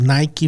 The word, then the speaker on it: Nike: No, I was gonna say Nike is very good at storytelling, and I Oh think yeah, you said it right.